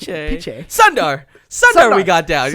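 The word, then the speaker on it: Pichai: Piche. Piche.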